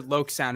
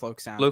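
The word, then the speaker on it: LokSound: with lock sound or loc sound it's pronounced lok sound sound lock sound i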